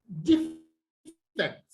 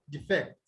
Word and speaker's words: defect: Know that when you have a disyllabic word that is a noun, it is stressed on the first syllable. And when you have it as what? A verb, it is stressed on the second syllable.